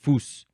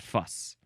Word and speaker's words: Fuß: But the Germans probably pronounce it Fuß and not fuss, because it's spelled like fuss.